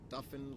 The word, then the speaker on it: Duffin: Duffin, like muffin with a D.